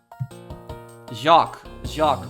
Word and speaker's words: Jacques: Jacques Portsman. That's how you pronounce his name.